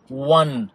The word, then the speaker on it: one: 1 او ان اي، رقم واحد بالانجليزي بنقول و و وان او وانس، بتتنطق برضو بالدبليو بالساوند بتاع الدبليو.